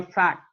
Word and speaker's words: fact: Jadi bacanya fact. Jadi bukan fake ya.